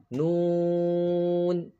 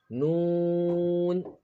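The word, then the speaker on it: نون: Then Noon. Noon. Noon is pronounced by touching the tip of the tongue to the upper gums.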